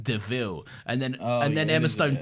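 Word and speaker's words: De Vil: is still better than this car is a devil it's pronounced devil and then and then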